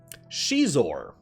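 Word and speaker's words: Xizor: Shizor. And yeah, I hate that pronunciation, but that is the accurate pronunciation.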